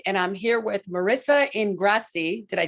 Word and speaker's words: Ingrasci: of work liberated and i'm here with marissa ingrassi did i say it right you did of